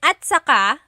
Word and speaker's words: at saka: Okay, and then at saka, technically it's spelled at saka, but when it's pronounced, remember the TS combination, it makes that ch sound.